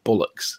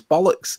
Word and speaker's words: bollocks: anyway it's true and they start pronouncing bollocks is in bullock's and then you say that it's pollock's and then they end up saying balaks and it's like no it's bollocks there's an older bollocks